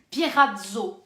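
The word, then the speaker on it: πειρασμός: Le tentateur se dit Pirazo. Pirazo, ça s'écrit P-E-R-A-Z-O en grec.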